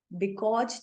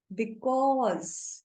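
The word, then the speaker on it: because: Another word is बिकॉज. बिकॉज नहीं है, बिकॉज. पॉज. ज साउंड.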